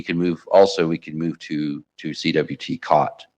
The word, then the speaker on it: CWT: move to to CWT COT. Jot and COT. I find if I pronounce them jot and cot for people that have never heard of them, they're like, "What? What are you talking about?